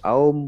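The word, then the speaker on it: ॐ: ओम के उच्चारण में जैसे हर बार हम ध्यान देते हैं कि अ उ और म की तीनों ध्वनियां जो हैं अलग अलग और लगभग बराबर समय के लिए हम कहें, और अपने अंदर ये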